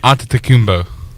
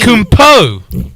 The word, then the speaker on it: Antetokounmpo: Antetokounmpo. No. Try again. Antetokounmpo. No. There's no B in there. There's not a B in there. It's a P. Antetokounmpo.